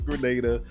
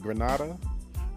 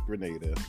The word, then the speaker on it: Grenada: A lot of people in my comment section tried to explain to me that Grenada, the way I was pronouncing it, Granada, that is a place in Spain, they were saying, I believe. So I probably mispronounced it, but thanks to the comments, they let me know that it's Grenada.